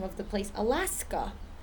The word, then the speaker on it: Alaska: The same thing with the word or the name of the place, Alaska. It ends in an A, but it's not that A sound. It's like a short U sound.